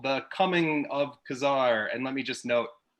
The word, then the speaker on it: Ka-Zar: Today we're going to be reviewing X-Men number 10, which is called The Coming of Ka-Zar.